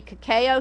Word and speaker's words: cacao: often times it now because cacao or cacao some people say cacao actually the pronunciation is supposed to be cacao here now because it's